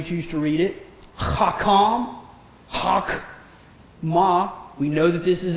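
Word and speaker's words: חכמה: Hakam, hakma. We know that this is a silent shavah. How do we know that? Preceded by a vowel.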